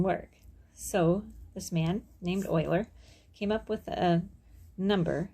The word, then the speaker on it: Euler: thought it was pronounced euler but it's actually pronounced euler okay so this man euler euler came up